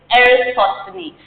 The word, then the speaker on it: Eratosthenes: So, this is, I pronounce this as Eratosthenes.